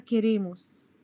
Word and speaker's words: queremos: احنا قلنا ان الكو ما بيجي بعديه او بعد كده ايه بننطقها كأن الاو دي مش موجودة، فبنقول طب كيرير. هو البربو اسمه كيرير، فبيبقى مع nosotros بيبقى كيريموس مش كريم.